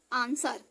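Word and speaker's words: answer: blue silent होता है आंसर इसके बाद जब भी डब्लू आएगा डब्लू साइड साइलेंट है तो ए से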